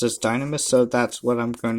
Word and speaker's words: Dynames: And and yes, like most people that I've seen reviewed this kit refer to this Gundam as Gundam Dynames, pronounced as Dynames, so that's what I'm going to be referring to him as.